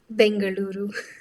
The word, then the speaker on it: Bengaluru: do the people of bangaluru do I pronounce that correctly Bengaluru bangaluru much better thanks do the people